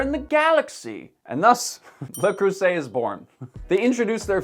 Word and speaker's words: Le Creuset: in the world is lacret properly pronounced lacru before you go to